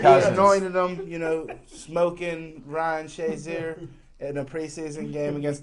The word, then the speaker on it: Shazier: I think the reason why Jim Frazier's so enamored with Ryan Shazier is Shazier kind of rhymes with Frazier in his mind.